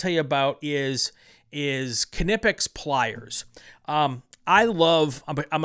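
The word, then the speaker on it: Knipex: They they pronounce it Kipics.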